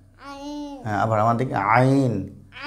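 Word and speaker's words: ع: আইন এসে বল আইন বলন আবার আমার দিকে আইন একটু শোনাও সবাইকে আইন সে নাও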